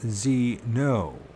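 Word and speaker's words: Zeeno: It is pronounced Zeno.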